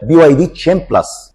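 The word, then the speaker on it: BYD Chin Plus: لاسم العربيه لان العربيه في ناس بتقول عليها كين لكن النطق الصحيح ليها هي بي واي دي تشين بلس الحاجه الثانيه بقى اللي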